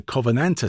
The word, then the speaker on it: Covenanter: So I'll speak slowly. It's a Covenanter tank.